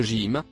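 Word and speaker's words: ج: mots le premier c'est la lettre j qui se prononce au gym en arabe pour donner à cette lettre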